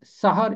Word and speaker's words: सेहर: अरबी और उर्दू में सहर इस्तेमाल हुआ है। इसका मतलब है सुबह सवेर का वक्त, तड़का। और एक और लफ्ज़ मिलता जुलता है इससे, वो है सेहर। अगर सीन के नीचे जेर होगा तो इसका मतलब ये है जादू, सेहर, जादू।